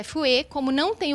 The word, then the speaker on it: FUE: e fazer a implantação da pronúncia é f u e é isso ótimo bom